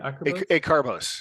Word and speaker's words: Acarbose: Acarbose.